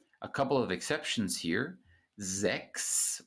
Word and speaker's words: sechs: Sechs with a K sound, as I already explained, but 16. So in this word, you do pronounce the CH, the soft CH following the front vowel. Sechs, 16.